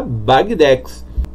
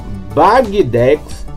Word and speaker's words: Bagdex: é bag tá bom isso porque é o apelido do nosso querido Wagner né o criador aí da bagdex uma outra curiosidade galera